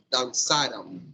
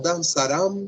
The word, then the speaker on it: dançaram: Eles, elas, vocês dançaram. Cuidado. O acento vai na penúltima sílaba. Penúltima sílaba. Não dançarão, senão dançaram.